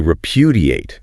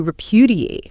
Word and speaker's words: repudiate: And the final verb in this group is to repudiate. To repudiate. Repudiate. Stress on the second syllable.